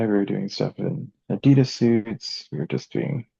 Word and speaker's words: Adidas: by the way, do you know that it's pronounced Adidas? Oh yeah, German, Adidas.